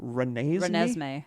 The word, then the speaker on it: Renesmee: Renesmee.